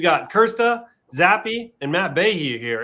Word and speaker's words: Bahe: However, we've got Krste, Zappy, and Matt Bahe here. Is it Bahe or Bahe? It's Ba. It's Bahe? No, it's just Ba. Like the It's E's not Ba. there. Ba. So the E is silent.